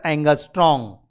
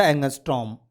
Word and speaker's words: angstrom: That is called, and that pronunciation is a angstrom. That pronunciation is a angstrom.